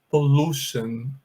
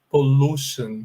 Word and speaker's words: pollution: falei aqui em cima, esse U aqui, ele é pronunciado com som de U mesmo, um U mais alongado, tá? Então, gravem isso. A palavra poluição, você vai pronunciar assim, pollution, pollution, tá bom?